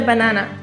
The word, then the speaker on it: banan: p l e TR eple This is a Banana in Norway we pronounce banana bam we SP banana Be a